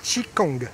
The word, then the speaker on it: Qigong: Bonjour Jackie, vous serez mon prof de Qigong, je prononce bien ? Oui, Qigong, c'est une expression qui veut dire simplement le travail de l'énergie.